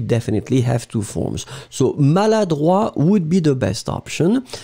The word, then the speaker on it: maladroit: pronounce it slightly differently because maladroit, masculine, final T not pronounced. And then feminine form, maladroite, t, you will pronounce it. D'accord? So maladroit, masculine, maladroite, feminine form.